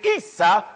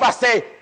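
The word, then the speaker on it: عيسى: a brother named Esau in Arabic Esau is pronounced Issa Issa in Arabic the name Isa is Jesus so if I say Isa that's Jesus that's Jesus Jesus that's Jesus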